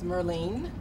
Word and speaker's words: Myrlene: to do is to say your name and spell it and say your title and then what company works right it's Merlin Merlin my are L e and